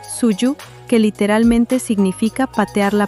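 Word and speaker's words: 蹴鞠: donde practicaban un juego llamado Kuyu, pronunciado Suyu, que literalmente significa patear la pelota.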